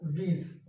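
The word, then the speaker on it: Woese: किसने दिया था? वीज। यहाँ पे ओ साइलेंट है, ये याद रखिएगा।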